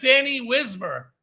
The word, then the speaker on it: Danny Wismer: And long live Danny Wismer.